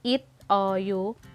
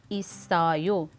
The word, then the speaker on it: 있어요: So for example, sa word na isayo, which means meron o mayroon, sa halip na it o you, ang basa sa kanya ay isayo.